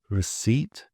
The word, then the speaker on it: receipt: S or an N, but we drop the P in the pronunciation, but we keep it in the spelling. So some examples of this would include psychology, pneumonia, receipt, pseudonym, cupboard.